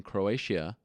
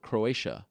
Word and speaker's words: Croatia: I call it Croatia I think it's Croatia I think that's how you say not Croatia it's a little too um you can't pronounce the ey that much got to be a little more subtle Croatia uh anyway it's